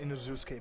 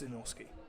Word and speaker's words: Inosuke: And if you guys don't know, yeah, like he's from Brazil and they pronounce it Inuzuke, but it's Inosuke.